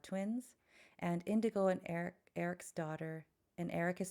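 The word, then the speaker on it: Arek: and bear are twins and indigo and Eric Eric's daughter and Eric is spelled a r e k um their daughter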